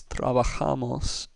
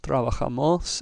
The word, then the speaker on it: trabajamos: then we know that the stress is going to be on the A. Therefore, our word is trabajamos, with the ja syllable getting the emphasis. It's not trabajamos, it's not trabajamos, it's not trabajamos, it's trabajamos.